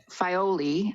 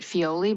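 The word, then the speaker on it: Filoli: is working with uh fioli i guess i always pronounced it fioli but i think the correct pronounced nation is fioli they fioli has a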